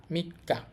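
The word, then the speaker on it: 三日: তো এখানে উচ্চারণ হবে এটা হচ্ছে মি এটা হচ্ছে কা মিক্কা মাঝখানে ছোট সু আসার কারণে ডবল হয়ে গেছে উচ্চারণ মিক্কা মিক্কা হচ্ছে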